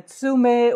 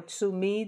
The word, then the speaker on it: tsume: And then, of course, you have the tsume or tsumi, depending on how you want to pronounce it.